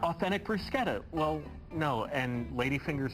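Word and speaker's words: bruschetta: out that's not authentic brusketa well no and lady fingers aren't made with ladies fingers it's a metaphor yeah exactly all right so but but Italians pronounce it brusketa yes okay all right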